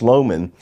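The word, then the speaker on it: Lohmann: It's spelled differently, but it's pronounced Loman.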